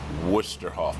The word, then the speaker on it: Westerhof: Ed Westerhof.